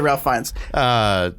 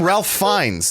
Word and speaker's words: Ralph Fiennes: That's how it's spelled, but he pronounces it Ralph Fiennes. We'll see. Anyway, no, like he in interviews. Hi, I'm Ralph Fiennes.